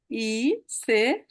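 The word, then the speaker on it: ich: তাহলে ইস, এখানে ই সে হা, ই সে হা, এইটা একসাথে থাকলে উচ্চারণ আমরা ইস। উচ্চারণে ভ্যারিয়েশন আছে অঞ্চল ভেদে। আপনারা অস্ট্রিয়া অথবা সুইজারল্যান্ডে গেলে এটাকে ইক বলে, জার্মানিরও বায়ার্ন অঞ্চলের দিকে বলে।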